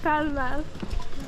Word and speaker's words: Pall Mall: So mal was the pronunciation. Then the Southerners started saying mall. So we then started having malls. And that's why in London we have Pall Mall.